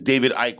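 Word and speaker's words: David Icke: You So your name is not David Ike. His name is David Ike. What is wrong with you? E is silent, man.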